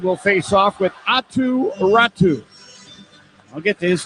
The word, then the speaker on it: Räty: Tell me about Räty because it's spelled r a t y and I know it's I know I know it is pronounced Räty but what is the official explanation?